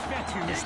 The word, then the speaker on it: Vettel: 45-yard line so coach vettel for the longest time i was pronouncing it coach fetta like feta cheese so let's just say